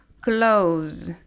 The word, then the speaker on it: close: um verbo Ok então sendo um verbo a gente vai pronunciar esse s com som de z Ok então aqui vai ficar Close good Close the door